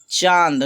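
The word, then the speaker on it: چاند: चांद। नू का आवाज़ जो है साइलेंट कर देना है, जिस तरह से इंग्लिश में पढ़ा जाता है।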